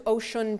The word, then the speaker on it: Osun: And we were traveling to Osun province, O-S-U-N, but it's pronounced like ocean.